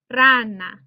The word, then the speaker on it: rana: the spanish language so the word for frog is rana and you can hear the verbal stress falls on that r a that first syllable or second from last syllable rana or if we did